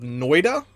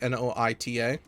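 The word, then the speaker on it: Noita: recorded one episode of Noida which I'm just gonna keep calling it that cuz I've no clue how to pronounce it it's Noi ta but I did one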